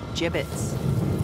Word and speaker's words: gibbet: some gibbets left over jbits what it's pronounced jibbit are you sure yeah